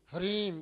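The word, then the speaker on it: ह्रीं: तो एम इसमें क्या है, ये अलग अलग शब्द जो अंत में इसके बिंदु लगा हुआ है, तो शुद्ध उच्चारण क्या है, एम ह्रीम क्लीम चामुंडाई बिच्चे, ng नहीं।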